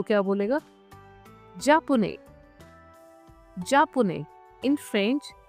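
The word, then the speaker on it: japonaise: Masculine के लिए होगा जापुने, जापुने, जापुने, सिंपल जापुने। अब देखिए फेमिनिन में सेम वही कॉन्सेप्ट रहेगा, we will add ई एट the last. Okay, अब प्रोनाउंसिएशन क्या होगी जापानीज, जापानीज।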